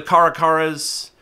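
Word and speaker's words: caracara: maybe some of the karakaras i know some people pronounce it karakara but karakaras are kind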